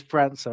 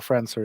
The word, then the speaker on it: Franca: I always go with how does he pronounce it himself? And on Palace TV interviews, he says Franca, and I think he probably knows. He's probably said it a few times. that is damning evidence. Yeah, okay. It is damning evidence. It's not foolproof because we have had people mispronounce their own names, and and it does happen. But I'm pretty sure Franca is right.